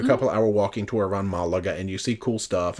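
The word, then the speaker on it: Málaga: There's a bunch of cool stuff now there's an accent over that first A, so I'm assuming, I've always said Malaga, and I think it's Malaga.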